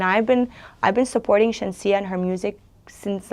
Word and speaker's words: Shenseea: Is the pronunciation correct? Shenseea, yeah.